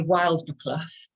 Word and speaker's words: Wild Boar Club: not a great name they say wild mclouff but wild ball Club is how it's spelled and so the lady